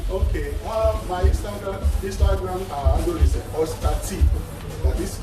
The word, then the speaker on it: OSTATEE: My Instagram handle is Ostati. That is spelled OSTATEE.